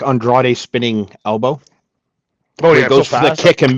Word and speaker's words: Andrade: Um Andre Andre I could never say his name. Andrade.